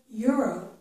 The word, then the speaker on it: euro: It's in the word euro. Okay? In English, this word starts with a y sound, euro.